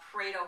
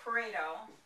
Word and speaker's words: Pareto: a Paro graph or sometimes they even call it a